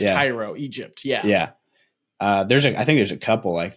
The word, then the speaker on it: Cairo: like there's people so there's a Cairo Nebraska and it's Cairo Egypt yeah yeah uh there's